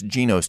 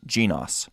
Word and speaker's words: Genos: We'll be talking somewhat about the GENOS model of emotional intelligence, which, true to form, I mispronounce as GENOS during the interview, but it's actually a soft O sound, GENOS.